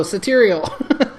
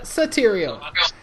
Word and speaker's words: Sateriale: No, Sateriale. She told me that it rhymes with material, and so I just said material. All right, Sateriale.